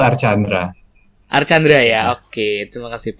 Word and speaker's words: Arcandra: Untuk nama Bapak itu sebenarnya dibacanya Arkandra atau Archandra nih, Pak? Karena kan banyak versi ya saya dengar nih. Yang benar tuh Archandra.